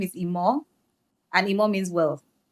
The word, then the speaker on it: Imoh: First of all, I start by saying my name is Immore and immore means wealth.